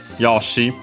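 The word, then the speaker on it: よし: Yoshi. The accent is on the first more regardless of the yo.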